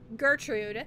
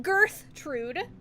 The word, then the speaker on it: Gertrude: Gertrude. Not Girthtrude. It's not a protruding girth. It's Gertrude.